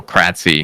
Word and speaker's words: Kratzy: So I was like, okay, I'm just going to go Kratzy because it is spelled the way it's said.